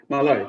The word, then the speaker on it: Malai: Is it pronounced Malai? Malai, correct.